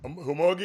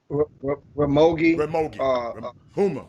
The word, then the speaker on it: Ramogi Huma: Humogi, right? What his name? What his name? How you pronounce his name? Ramogi. Huma.